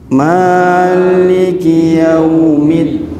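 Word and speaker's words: مَالِكِ يَوْمِ الدِّينِ: jadi ingat-ingat Nggih malikiiddin middin juga ditekan karena ada tasdid jangan lupa kemudian Ma dibaca Dua harakat jangan lebih jangan maiki yaumiddin harus Maliki yaumiddin sebagaimana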